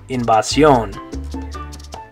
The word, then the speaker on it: invasión: This next one, in English we'd say invasion. In Spanish, you're going to say invasión.